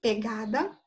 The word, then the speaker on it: pegada: no nosso vocabulário, é pegada. Então, vamos ver qual é a sílaba tônica dela para a gente ver o que ela é. Pegada. Qual é a tônica? A sílaba forte. É o Gá.